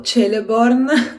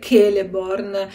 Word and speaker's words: Celeborn: per cui, per esempio, io per anni ho sempre letto Celeborn come marito di Galadriel, però a quanto pare questa fricata non sta di casa nelle pronunce elfiche, per cui dovrebbe essere sempre Celeborn, Celebrimbor o Celebrimbor.